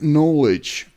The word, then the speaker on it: knowledge: jice knowledge знання knowledge Зверніть увагу що при буквосполученні knn в англійській мові буква K зазвичай не читається так що словоge хоч починається з букви K але вимовляється як knowledge Добре давайте далі L